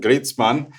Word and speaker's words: Griezmann: And the thing that you just showed was, for example, Griezmann, or as it's pronounced in German, Griezmann.